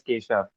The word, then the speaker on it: Kesav: So I think the first question just just just a tiny thing it's it's KA the spelling is K SAV but pronunciation is Kisha.